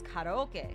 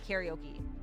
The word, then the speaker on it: karaoke: So, I know the actual Pronunciation of karaoke is koke. But when I speak English, I can't say anything but karaoke. When I speak Japanese, I say koke.